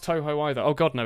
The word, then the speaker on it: Touhou: I call it Touhou sometimes for fun, but it is Touhou.